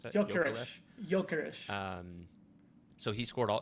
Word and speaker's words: Gyökeres: Kökeres? However you pronounce it. Gyökeres. Gyökeres.